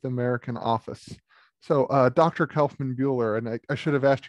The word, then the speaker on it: Kaufmann Buhler: design history of the american office so dr kaufman buehler and i should have asked you this before